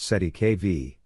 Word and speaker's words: cestui que vie: The term cestuic kvi pronounced si kv is a legal concept originating from French law and used in common law contexts specifically in trust law.